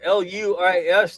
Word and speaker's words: Luis: My name is spelled L U I S.